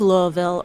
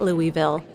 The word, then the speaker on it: Louisville: and riding motorcycles whether you're a native of Louisville or someone who says it Louisville a sincere thank you by the way to